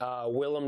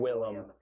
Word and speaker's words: Willem: Anyways, Willem Dafoe. I love me some William. Love Willem Dafoe. Willem Dafoe. I'm saying William. This will be the episode where I mispronounce it.